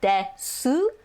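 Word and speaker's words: です: so again you'll notice it is spelled de su but you drop the oo in the des su it's just desu so your surname or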